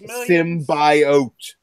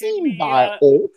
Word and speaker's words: symbiote: And she has a stillborn symbiote. And then it's pronounced symbiote. Symbiote. Haven't you seen the trailer? It's symbiote.